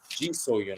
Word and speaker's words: Ji So-yun: So-yun, Ji So-yun, I should say, that went down. Should mention, got Ji So-yun, last name spelled S-O-Y-U-N, and then Cho So-yun, last name spelled S-O-H-Y-U-N.